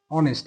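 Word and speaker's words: honest: যেমন শি ইজ অ্যান অনেস্ট, এই যে অনেস্ট, এটা কিন্তু হনেস্ট না, এটা উচ্চারণ হচ্ছে অনেস্ট। এইখানে কিন্তু এইচ এর উচ্চারণটা হয় নাই, এখানে এইচ এর উচ্চারণটা না হওয়ার কারণেই কিন্তু এখানে আমরা ব্যবহার করলাম কি, এন।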